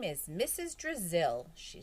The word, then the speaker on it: Drizzle: Brazil rhymes with Drizzle. I thought it might help you remember my name."